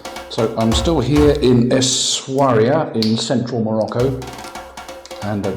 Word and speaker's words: Essaouira: Very pleasant staying here in Essaouira. Sorry, Essaouira. Must pronounce it correctly.